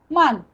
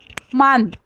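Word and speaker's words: Mann: मान, मान ए का प्रोनाउंसिएशन आ करेंगे, सिर्फ मैन के जगह मान बोल देंगे।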